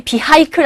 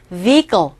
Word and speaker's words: vehicle: 단어 발음이 vehicle 아니에요. vehicle.